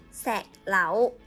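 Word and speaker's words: 石榴: 색라우.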